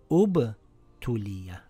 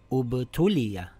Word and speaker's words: ٱبْتُلِىَ: And if I begin reading here, this will read أُبْتُلِيَ. أُبْتُلِيَ.